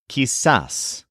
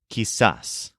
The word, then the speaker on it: quizás: to say it is kisas which is spelled Qi Z with an accent on the A kisas and when you say